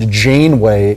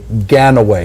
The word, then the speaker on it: Janeway: out to Super producer Rob who pronounced Janeway Gan away he added letters he added syllables shout out to Rob